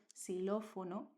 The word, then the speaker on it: xilófono: But at the beginning of a word that is not frequent at all, like in xylophone, we have the same word, xilófono, is going to be pronounced like an S, similar to an S.